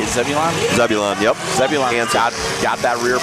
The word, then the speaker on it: Zebulon: Number 2, Zebulon. How do you say it? Zebulon? Zebulon, yep.